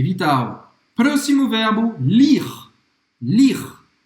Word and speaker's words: lire: Lire. Ler, em francês, você não vai pronunciar o E no final. Lire.